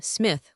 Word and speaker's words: Schmidt: Bernard Schmidt, or as we pronounce the name, Smith, was a native of Germany, but of what city or province is not known.